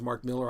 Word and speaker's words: Mark Millar: 10 years Mark Millar I know his name is Mark Miller I still call Mark Millar's that's the way it's spelled when he did the